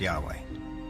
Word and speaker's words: Yahweh: knew God by his intimate personal name conventionally pronounced Yahweh passages with the name Yahweh which in German